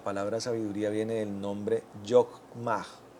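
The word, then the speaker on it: חכמה: La palabra sabiduría viene del nombre Yokmah. Yokmah. Se pronuncia así, que significa sabiduría, experiencia, astucia.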